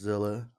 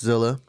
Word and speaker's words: 7illa: makes it easier um but it's pronounced Zilla um you go ahead